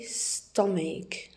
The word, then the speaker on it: stomach: We say stomach. We don't say stomach. Stomach. We pronounce ch as a k.